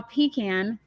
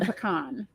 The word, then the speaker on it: pecan: So a raw pecan versus a pecan. Yeah, pecan pie. Yeah, and so it depends on if it's cooked. That determines how you can pronounce My it. friends always say that it's not like pecan. It's not pecan. It's just pecan both ways. No, it's not. It depends on if it's cooked or not.